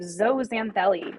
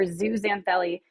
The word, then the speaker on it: zooxanthellae: Coral polyps and zooxanthellae, or zooxanthellae. I usually say zoo. It doesn't matter. I did put how it's pronounced.